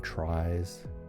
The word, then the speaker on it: trie: a tree structure t-r-i-e short for retrieval although it is very confusingly pronounced by most people the same as tree like a binary tree or a red black tree i think some people call them tries sometimes although traditionally from what i understand there they were pronounced tree after retrieval well let's do